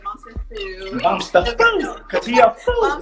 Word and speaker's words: Bomster_Foo: So the way to say my name is a different way you say it. So it's Bombster_Foo, like that. It goes up.